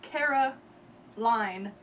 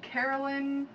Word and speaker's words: Caroline: When a word is spelled L-I-N-E. It's pronounced line. Like the word L-I-N-E. Right, and you would think, you know, Caroline.